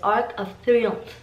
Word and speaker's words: Arc de Triomphe: The right pronunciation of this monument is Arc de Triomphe, which actually means Arch of Stars.